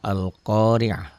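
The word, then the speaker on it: القارعة: Tapi lamnya jangan ditahan ya, jangan jangan ini lamnya ya.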